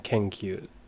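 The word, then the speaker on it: けんきゅう: And then kenkyu. So ken, kyu, ki, yu, u. Kenkyu. So because the ki and the u become one sound, kyu, we write the u a bit smaller, and then it's another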